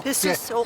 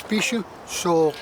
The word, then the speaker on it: Pisusuk: So what is, I know that it's Pisusuk. Am I pronouncing it correct? No, Pisusuk. yeah, it's Pisusuk. Pisu, The back of the throat.